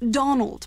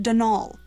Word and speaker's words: Donal: caretaker denol Delan not Donald mind you there's no D at the end so it's pronounced denal that's the way you're